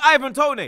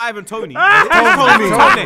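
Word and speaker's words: Ivan Toney: stop everybody stop troops why do you keep calling him Tony he not R Ivan Tony they call him Ivan Tony Tony Tony you're trying to you're trying to Spanish him off to make him make his name is Ivan Tony it's not Ivan tonyy tonyy I swear it's Ivan Tony we don't we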